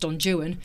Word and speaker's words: Don Juan: Obviously, to say Don Juan, it's pronounced Don Juan. But the rhymes rhyme with that's Juan. Right, Juan.